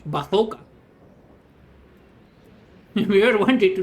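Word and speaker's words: bazuca: to get bazooka or as we say in Spanish, bathoka.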